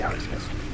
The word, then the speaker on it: Arceus: I don't know how some people pronounce that. Arceus. I say Arceus.